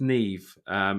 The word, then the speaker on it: Nev: called I think it's Neve Schuman uh but his first name is spelled Nev so I've normally mispronounced it as never but his name is